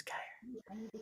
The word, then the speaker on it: Geyer: It looks like it says guy there, not gay or like geyser.